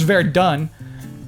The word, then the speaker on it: Verdun: It's pronounced Verdun.